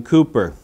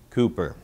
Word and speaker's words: Cowper: the works of William Cooper spelled C OWP er but pronounced with the usual English perversity Cooper it would seem we